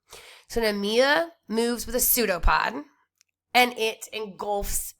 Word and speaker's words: pseudopod: the cytoplasm called a pseudo pod it's spelled with a P but it's a pseudopod so this extension of